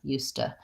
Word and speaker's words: used to: it into the T used to ustah and that is becomes a flap T so I would say